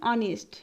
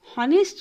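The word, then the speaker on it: honest: অনেস্ট এর উচ্চারণ অনেস্ট, হনেস্ট নয়।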